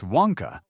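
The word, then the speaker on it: Nwankpa: Nankpa, pronounced Wonka, fits the Bears mold for a physical runup supporting box safety.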